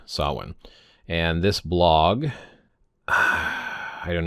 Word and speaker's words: Samhain: So anyway, how to pronounce sah-win. Okay, so since I have a bit of following here on this blog, I thought it important to address the often mispronounced word sah-win.